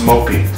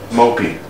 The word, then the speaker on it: Moppy's: Look, it's pronounced Mopey, okay? Mopey.